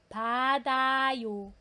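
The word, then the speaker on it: 받아요: for pronunciation po niya following the Res syllabification should be padayo so should be payo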